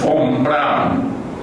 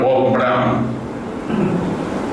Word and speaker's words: von Braun: Yo tuve el honor de que mi tesis doctoral la dirigiera, lo voy a pronunciar en alemán, Bernard von Braun, en inglés Bernard von Braun.